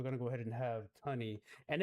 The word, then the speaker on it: Tunny: Of course, we're gonna go ahead and have Tunny, and it's Tunny, y'all, not Tootie.